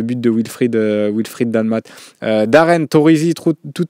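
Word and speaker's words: Torrisi: Stefano Torizi pour la prononciation, pour qu'elle soit parfaite.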